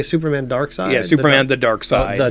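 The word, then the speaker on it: Darkseid: side okay all right as a kid you know how I pronounce Dark Side dark seed dark seed yeah I think a bunch of us did yeah well there there's a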